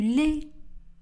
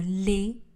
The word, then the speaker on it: lait: Je bois du lait. Je bois. Attention, le S à la fin de ce verbe ne sera pas prononcé. Le T à la fin du mot lait ne sera pas prononcé. Je bois du lait.